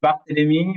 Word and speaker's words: Barthelemy: No sé, no puse pronunciarlo correctamente. Sí, Barthelemy, así es.